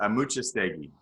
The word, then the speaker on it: Amuchastegui: name and so it's pronounced correctly yeah the pronunciation to your name of just that's hard but yeah my last name is a muchas thing I was just thinking okay yeah yeah if